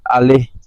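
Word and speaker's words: Alès: Es el fuerte, significa Alais. Y todavía se escribe igual en francés, pero ahora lo pronuncian los franceses Ale, ¿sí?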